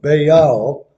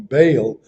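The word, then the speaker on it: Baal: and by the way when you're pronouncing words in many languages when you have back-to-back vowels you're supposed to pronounce each one of that's why you'll normally not hear me calling bail but they are a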